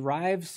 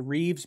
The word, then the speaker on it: Rives: is my preparatory sketch this is the rives or reeves bfk it depends on how you pronounce it i pronounce it uh rhyme says r-i-v-e-s bfk so this is a